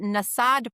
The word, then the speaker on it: Nasadh: And then the Nasad part, which is spelled Nasadh, actually equals assembly.